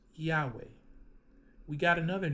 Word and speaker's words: Yahweh: We know Wav is a W because ancient Hebrew did not have a V, that is a recent creation. And we know letter He is letter He, right? Yahweh.